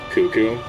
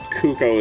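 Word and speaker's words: Cucco: If it's for the Zelda chicken, I've heard it's technically supposed to be pronounced cuckoo or Kuko. I think Kuko, sorry. Kuko is, I think, the technical correct pronunciation.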